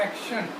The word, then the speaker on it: action: अब इसके प्रोनाउंसिएशन देखिए, एप्पल, एक्शन, CT, और इसकी आवाज़ कैसी आ रही है? एक्शन, शाह की आवाज़ आ रही है। आप अगर इसको प्रोनाउंसिएशन भी हम सीखेंगे, एक्शन, आ का शा ना, एक्शन हम बोलते हैं। एक्टन नहीं होगा, एक्शन।